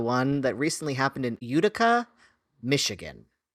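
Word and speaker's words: Utica: that recently happened in Udica, Michigan. Yeah. Udica. Udica. Udica. I mean, there's one in New York also, and they pronounce it Udica.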